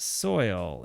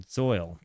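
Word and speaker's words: Zeuhl: Zu is pronounced soil. Uh, it's like if it were a German word. Zoil.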